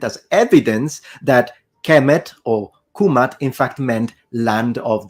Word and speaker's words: Kemet: So if we really want to be precise, then the correct and most likely pronunciation in ancient Egyptian, specifically in classical Egyptian, is Kumat, Kumatu, nominative, Kumata, accusative, and Kumati, oblique genitive.